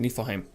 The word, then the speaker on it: Niflheim: Okay, that's how you pronounce it. Niflheim.